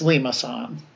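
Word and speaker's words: limaçon: But yeah, it's limason. They give you the pronunciation in the book.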